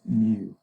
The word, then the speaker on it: mu: It's spelled mu and pronounced mu.